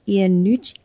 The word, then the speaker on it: Iannucci: And Death of Stalin, in like big 180, is a sort of political satire by Armando Iannucci.